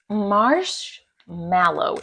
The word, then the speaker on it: marshmallow: So, marshmallow is how you say it, not mellow. It's marshmallow.